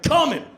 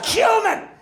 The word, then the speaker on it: cumin: "He thinks it's funny to pronounce cumin 'come-in.'" And then she starts laughing. Because she has a sense of humor. And then he turns on her, like, "God damn it. "That's not funny! It's cumin!"